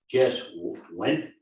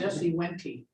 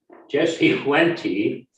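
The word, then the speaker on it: Jesse Wente: Jess Went, is that how you pronounce it? Jesse Wenty. Jesse Wenty, which is a native Indian from Ontario, and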